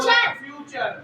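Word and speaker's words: future: चले जी सबसे पहले एक बच्चे को फ्यूचर, FU फ्यू और TURE चर, फ्यूचर।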